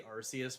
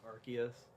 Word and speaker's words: Arceus: Like I always say Arceus, but I'm pretty sure it's Arceus.